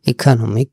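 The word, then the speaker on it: economic: ইকোনমিক মানে হচ্ছে এই এর উচ্চারণটা একটু জোরে হবে অর্থাৎ দীর্ঘের মত হবে রসিক না দীর্ঘের মত হবে ইকোনমিক ইকোনমিক হচ্ছে অর্থনৈতিক অর্থনীতির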